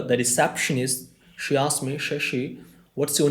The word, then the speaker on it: Shashi: And when I went there, the receptionist, she asked me, Shashi, what's your name? So I said, Sassi.